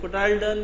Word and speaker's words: cotyledon: भी इजाफी बता रहा हूं, इनको जो है कोटाइलडोन भी कहते हैं। कोटाइलडोन या कोटाइलडोन, जो भी प्रोनाउंसिएशन वो कह सकते हैं।